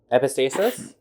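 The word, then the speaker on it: epistaxis: CUNY okay please epistasis but it's e p i s t a x i s oh The X just pronounce as a s mhm it's basically the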